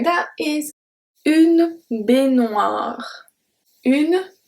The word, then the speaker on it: baignoire: So I told you that when it's GNOE, we do not pronounce the E, but we go directly to noix.